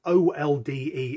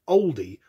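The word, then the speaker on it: olde: the same way that people think that o-l-d-e is pronounced oldie rather than old someone has read it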